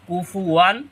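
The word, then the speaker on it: كُفُوًا: নুন সাকিনের উচ্চারণ হবে দুই জবর একটা জবর একটা নুন সাকিন এজন্য ওয়ান লাম ওয়ালাম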